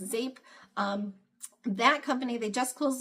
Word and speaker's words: Zeep: It was called Zape. It's spelled Zeep, Z-E-E-P, but I think it's actually pronounced Zape.